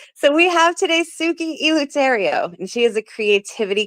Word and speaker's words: Eleuterio: Is it Eleuterio? Oh, you got it. Yes. All right. So we have today Suki Eleuterio, and she is a